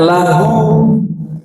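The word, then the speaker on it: له: Lam pertama diambil bacanya lahu, baginya, lagi-lagi kepada dia.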